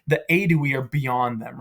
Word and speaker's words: Aedui: So here we have the H, the old-fashioned sort of way of writing it, but usually it's just the aedui is how you pronounce that, right?